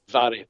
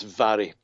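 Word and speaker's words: Mhairi: and I believe that's Mary, correct? Is that how you pronounce it? It's Vary. It's Vary. Vary. Okay. Vary. MH in the Gaelic is pronounced V.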